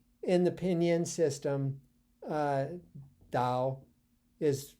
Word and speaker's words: Tao: a d that you that initial T you pronounce as a d even in the way